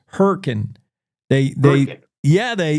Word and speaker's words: Hurricane: And and by the way, it's uh how they say it down there in Hurricane Utah as they call themselves Hurricane.